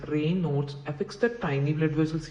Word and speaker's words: Raynaud: learn about rainard syndrome the condition known as rain not syndrome which is pronounced as rain nodes affects the tiny blood